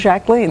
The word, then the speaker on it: Jacqueline: that's right you know we called her jacqueline or jackie but her name was jacqueline that's how she pronounced her name that's what she said and so we thought these